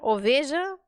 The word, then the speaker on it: oveja: Olha aqui ó oveja oveja letra V no espanhol som de B ou B vivir Verde vaca vacaciones víbora lavar percebe b b b então OB como é